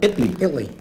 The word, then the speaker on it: Italy: Italy. Italy. Yeah, the T is silent, like in bottle.